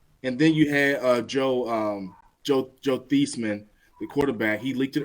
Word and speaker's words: Theismann: I'm saying Joe Theismann because that's his actual name. I know people think I'm saying it wrong. You can Google it. He didn't win the Heisman. We call him Theismann. Okay. Theismann, not Theismann. Theismann.